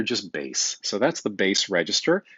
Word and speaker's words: bass: like baseball b-a-s-e but b-a-s-s so just careful not to pronounce this bass like you're about to go fishing but rather just base so that's the base